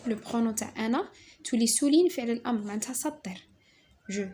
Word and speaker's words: souligne: جي ان ça se prononce نيو. je معناتها انا. souligne sou هذه او او او je souligne قلنا جي ان سي نيو.